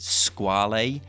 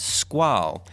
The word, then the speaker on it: Squale: of people pronounce it squall a but it's actually based on the French word for shark where the French would pronounce this as squall although I have since